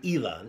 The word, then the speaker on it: Islay: But it's also that you find, for example, the Ely. Ely is Islay, spelled like Islay.